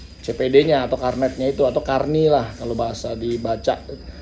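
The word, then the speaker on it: carnet: Nah dari situ baru kita bisa mendaftarkan CPD-nya atau karnetnya itu, atau karni lah kalau bahasa dibaca. Tulisannya karnet tapi dibacanya karni karena bahasanya bahasa Prancis ya, karena bahasa Prancis.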